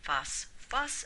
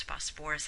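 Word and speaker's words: phosphorous: And the same thing with phosphite, doesn't form phosphus acid, it forms phosphorus acid.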